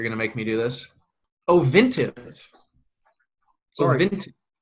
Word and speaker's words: Ovintiv: Ovintiv. Sorry. Ovintiv. It's like Otrivin. It's a nose spray.